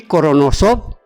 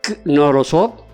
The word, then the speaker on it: Knorosov: El apellido empieza con K. Con K, exactamente. Sí, se pronuncia casi que es muda.